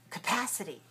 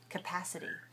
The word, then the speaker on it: capacity: at the word capacity how many sounds how many syllables do you hear capacity capacity capacity four right and where's the stress which syllable is stressed first second third or fourth capacity second second you said that so well